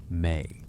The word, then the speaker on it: me: Me pronounced may.